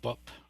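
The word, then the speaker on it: 법: uh using our alphabet this could be written b-e-o-b uh but the final B is is pronounced as a hard B so it's it's often if not always written as with the p at the end means Dharma and again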